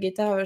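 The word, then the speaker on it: 下駄: Donc par exemple, le son, on va prendre le mot geta, donc les getas, les chaussures, geta, japonaises, il va forcément se prononcer geta avec un G.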